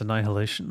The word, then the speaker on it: annihilation: not going to happen how do you pronounce Annihilation then the way I just did NST there's an H in there it's just not heavily emphasized man what can I